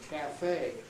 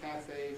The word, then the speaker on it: cafe: So Americans say ballet, cafe, debris, garage, right? Whereas we, of course, say ballet, cafe, debris, garage, with our fondness for getting the stress to the front of the word.